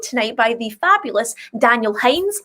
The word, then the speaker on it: Heinz: It is the fabulous Daniel Hines. Is that how you say it? Yes, Hines. Heinz, yes. Hines, lovely. Like the ketchup.